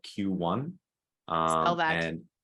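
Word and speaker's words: Queue One: like short-term consulting um a company is called q1 uh tell that and spell that if i can that's a tough word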